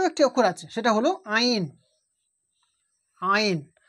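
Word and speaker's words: عين: তো এই হা আর আইন, এই দুটো অক্ষরের মাখরাজ একই জায়গা, সেটা হলো কি? হালাক বা কণ্ঠনালীর মধ্যখান হইতে, এই যে গলার এই মিডিল থেকে উচ্চারণ হয় এই আইন আর হা।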